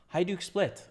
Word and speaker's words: Hajduk Split: Hajduk Split. Ah, there it is. J is pronounced Y. Hajduk Split.